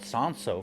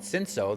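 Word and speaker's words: Cinsault: I'm glad to know that it's called Sanso from people that speak French. I've been calling it Cinso this whole time.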